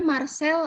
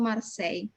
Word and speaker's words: Marseille: Bacanya Marcel atau Marseille? Marseille, Madam. Kenapa dibaca Marseille bukan Marcel? Tadi itu hampir semuanya ngomongnya Marcel. Karena ada double L, Madam. Hah? Double L. Ada I, kemudian double L.